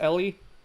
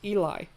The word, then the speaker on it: Eli: Took me a long ass time to realize that the name with E-L-I, it's not pronounced Ellie, it's pronounced Eli. Eli.